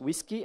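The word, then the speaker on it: WSGI: you would have gotten whiskey wsei it's pronounced whiskey I don't know why but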